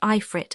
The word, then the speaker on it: Afrit: Not Afrit, pronounced Ifrit as our poets have it.